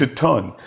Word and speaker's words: Tuten: It's going to be like Tuton. Tuten. It's Tuton. Like Bon Bon. What is it?